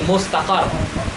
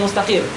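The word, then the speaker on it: مُسْتَقَرّ: Ya, makanya mustaqar bukan mustaqir. Kenapa mustaqar? Karena fiddarnya ini isim maf'ul. Ya, nanti kalian Anda belajar orang salah baca enggak pakai guru dia bacanya zarfun mustaqir. Ya, bukan zarfun mustaqar.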